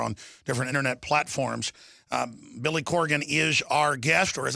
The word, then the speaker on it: Corgan: it in Texas, drawl, where we butcher names, Billy Corrigan. Billy Corgan. Leanne came here and said, you know, you're friends with him. You ought to pronounce his name right. Billy Corgan.